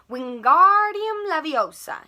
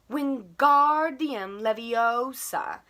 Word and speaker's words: Wingardium Leviosa: having much more luck wingardium leviosa he shouted waving his long arms like a windmill you're saying it wrong harry heard hermione snap it's wingardium leviosa make the gar nice and long you'd do it then